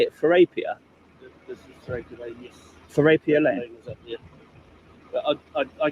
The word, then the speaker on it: Therapia Lane: This is Therapia Lane, yes.